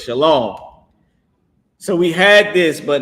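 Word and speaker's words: שלום: And some people pronounce it wrong and they say shalawam or whatever but they pronouncing it wrong but that's the word it's shalom.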